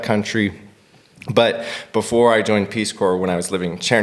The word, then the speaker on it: Peace Corps: first of all it's Peace Corps Peace Corps there's a p in there's the p is silent okay Peace Corps yeah I don't know